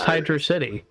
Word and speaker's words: Hydrocity: not an essay one fan how do you pronounce hydrocity mm-hmm hydrocity why is this true for everyone it's it's